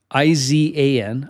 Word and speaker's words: Izan: And then Ivan Guevara, sorry. Izan. I feel like they pronounce it as Ivan, though, whenever I hear him on TV.